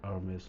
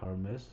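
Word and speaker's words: Hermès: US as well, so you will call it Hermes, not Hermes. It is of course silent in French, and American as well, they don't pronounce it.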